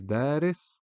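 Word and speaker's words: دارس: Here the aleph is extending the da, which is a dal with a fatha. So it is now da, and the word is daris. And here it's a short vowel, just da, ra, sa. Da, ra, sa, daris.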